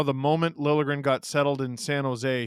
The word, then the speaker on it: Liljegren: James Stemler, did you guys hear about how the moment Liljegren got settled in San Jose, he started saying his name is supposed to be pronounced with a hard J?